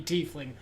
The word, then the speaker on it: tiefling: break some walls down I am playing 80 fling as much as I represent that pronunciation paladin of conquest then it had good reasons to back it up actually there's actually item illogical reasons it should be tiefling I hate that because